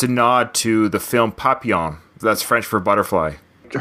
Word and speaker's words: Papillon: but movie bullet yeah I always thought it was Papillion so that was no takeaway from today I learned how to pronounce that movie correctly yeah it's French papi all right you didn't